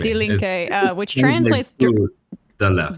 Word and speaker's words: Die Linke: Is it Die Linke? Die Linke, yes, exactly. Die Linke, which translates to the left.